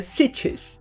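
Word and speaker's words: sietch: cidades onde eles vivem se chamam cities quase que sítios mas é cities vai tá aqui embaixo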